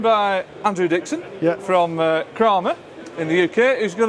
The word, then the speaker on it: Kramer: you're from what what is the actual proper pronunciation of creamy the actual proper prince nation is is kramer drama kramer it's the kramer family right they